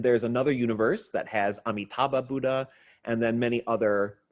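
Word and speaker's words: Amitabha: those to chant um amitaba name so you may know him as AMU amida amaba amida many different pronunciations of amitaba Buddha so this may be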